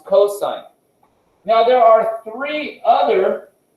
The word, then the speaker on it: cosine: sin it's sine right cos it's not cost it's cosine now there are three